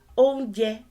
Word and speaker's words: oúnjẹ: Oúnjẹ is a shrunk version of oúnjíjẹ. Oúnjẹ. Re, mi. You know that whatever you say here, however you pronounce this, it has to align with re, mi, re. Re, mi, re.